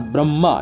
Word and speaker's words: ब्रह्मा: का नाम देते हैं ब्रह्मा शब्द का उच्चारण बड़ी मां अर्थात ब र मा अर्थात ब्रह्मा जैसे क्योंकि ब्रह्मा बड़ी